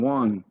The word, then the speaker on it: Juan: W-O-N. Juan. Or I think you all spell it J, maybe J-U-A-N.